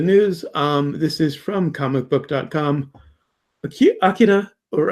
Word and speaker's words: Akira: Akira, or Akira, as some people think it should be pronounced, a live action film reportedly entering production this summer.